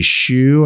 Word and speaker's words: Hsu: Hamil Rams Matt Barry Stephanie Shu I believe is how you pronounce her name Hsu uh from everything